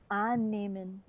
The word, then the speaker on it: annehmen: To suppose, Annehmen. ja, annehmen. This is a separable verb, that's why we emphasize the prefix an with an open A.